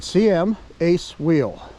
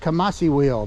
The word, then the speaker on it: CMaceWheel: guys CM a wheel I actually asked them how to pronounce it and they said CM Ace wheel so that's what we have I thought it was that kamasi wheel but it's not CM